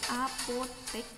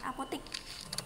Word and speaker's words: apotek: Penulisan yang benar itu menggunakan huruf E, apotek. Tapi pengucapannya biasanya sering menggunakan apotik. Tapi yang benar itu apotek.